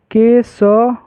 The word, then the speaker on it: केशवः: केशव व। ठीक है? और लास्ट में ह उच्चारण में ना ह लगाना है। ह बोलना है। इसको क्या पढ़ेंगे? केशवः व के बाद ह।